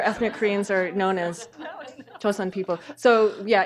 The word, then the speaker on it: Joseon: You know, other ethnic Koreans are known as Joseon people. So yeah, in American pronunciation be chosen.